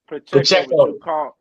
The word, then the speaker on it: Pacheco: Ronald Jones, Pacheco, whatever his name is. I'm gonna just call him the rookie because I can't pronounce his name. Pacheco.